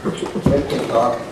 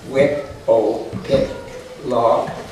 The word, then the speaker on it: Wytopitlock: Wytopitlock and Mattawamkeag are pronounced essentially as written. Wytopitlock, Mattawamkeag. Thus, wit, o, pit, log, and mat, a warm keg. Principal stress on the penouse.